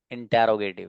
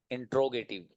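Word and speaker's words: interrogative: That is, इसको बहुत से लोग पढ़ेंगे इंटेरोगेटिव। क्या पढ़ते हैं? इंटेरोगेटिव। कुछ लोग पढ़ेंगे इंट्रोगेटिव, है ना। The correct pronunciation of this word is इंटेरोगेटिव, इंटेरोगेटिव, इंटेरोगेटिव, इंटेरोगेटिव, ये याद रखिएगा।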